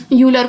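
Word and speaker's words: Euler: Okay, जैसा हमको हमारे प्रोफेसर्स बोलते हैं वैसा ही हमारा जो है प्रोनाउंसिएशन किसी भी वर्ड का वैसा ही होता है। यूलर को, आइलर, लेबनिज को, है ना, एल हॉस्पिटल को मैंने पहले बता चुकी हूँ।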